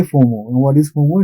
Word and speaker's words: FOMO: and that's why fomo we don't say f m o we say fomo what is foro it's